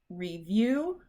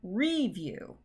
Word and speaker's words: review: every morning and uh review or review you can probably hear that first one was right review and the i'm just